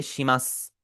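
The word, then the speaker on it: します: योररोष्क ओनेगाई और इसके आगे आप पढ़ेंगे शिमस। शिमास में भी हमारा जो उ है वो साइलेंट होगा।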